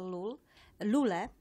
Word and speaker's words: Lule: I think it was a couple of episodes ago when we had here Rachel Lule. Actually, that's the correct pronunciation.